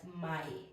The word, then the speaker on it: may: is spelled as this when you are reading it then it will be read as my okay same with this